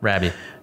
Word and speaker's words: Rabie: Rabie, I got it right? Rabie. Yeah, but it's spelled R-A-B-I-E.